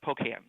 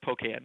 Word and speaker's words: Pocan: on the second syllable I've been pronouncing it with the emphasis on the first syllable uh which is right but you know this is I I to say this top Mark poan how do I say